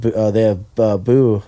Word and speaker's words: Bou: They got they have Boo. Is that Boo or Bao? How do you say his name? BOU. Say boo.